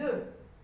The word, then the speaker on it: œufs: On dit un œuf, donc ici on dit un œuf, et on dit des œufs. Le F ne se prononce pas.